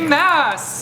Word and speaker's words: Maas: Maas! What up, guys? I said it wrong. Sarah J. Maas. I'm sorry. Wait, no, Maas. Maas. It's Maas. We can settle it now. It's Maas. It's Maas, like Massachusetts.